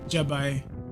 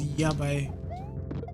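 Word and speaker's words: やばい: You're pronouncing Y's as J's. So I heard Jabai. So I said, Jabai. It's Yabai.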